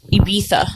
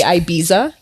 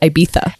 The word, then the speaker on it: Ibiza: I don't know but there's a lot of Americans say Ibiza because of the Z but apparently it's like a th and so it's Ibiza anyways guys who's an